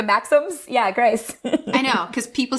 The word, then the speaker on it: Grice: It is Grice for you, is it not? What? Do you say Grice or Greece? Yeah, the guy with the Maxims. Grice. Yeah, like the Maxims. Yeah, Grice.